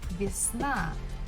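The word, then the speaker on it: весна: same next word is visna bisna spring it's a syllable Falls at the last syllable na so the first syllable Vias we have to pronounce with letter e next word is that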